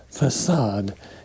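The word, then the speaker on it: façade: is called a facade the word is facade you pronounce the c with an s sound the whole front wall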